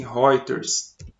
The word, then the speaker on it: Reuters: agências classificadoras de crédito uma delas se escreve reuters mas pronuncia-se Rogers sobre esse eu entro